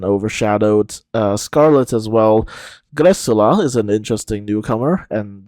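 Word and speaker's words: Greczula: uh Scarlet as well grula is an interesting newcomer and that is how you pronounce it apparently um if you're wondering where that surname that name comes from it's a Hungarian surname actually and CZ in Hungarian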